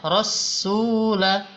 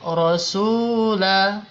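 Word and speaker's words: رَسُولَ: tidak ada tasdidnya ya tadi ibu membacanya rasula harusnya rasula ya gitu bu ya Coba diulang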